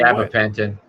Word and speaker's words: Gabapentin: You say, how do you how do you pronounce it? Gapin. Gabapentin.